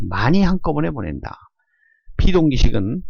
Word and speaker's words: baud: 이때 저속이냐 고속이냐의 기준 숫자는 1200이라는 숫자고 이 뒤에 영어가 BAUD라고 표시할 때 읽는 것은 보라고 읽습니다.